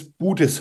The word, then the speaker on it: Budesheim: what's his last name my last name is buddhis I'm not asking you I'm asking Chris oh